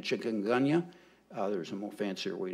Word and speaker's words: chikungunya: I've read several arguments about how you pronounce this word, but I'm going to say it with an English American way of saying it, chikungunya.